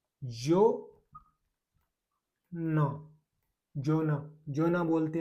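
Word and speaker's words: zona: उसके बाद में जेड ओ, जेड ओ का हो गया भाई जेड ओ एन ए, जो ना, जोना, जोना बोलते हैं भाई इटली में क्षेत्र को।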